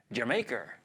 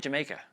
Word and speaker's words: D'yer Mak'er: We're going to do D'yer Mak'er. That's how they say it. I googled it. I guess that's how you say it. Anyway, it's supposed to sound like Jamaica. Jamaica. Jamaica.